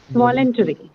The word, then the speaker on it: voluntary: Voluntary. Voluntary. Should be a verb. It should be adjective. Should Adjective, yes. Stress on first syllable. first syllable. Stress on first syllable.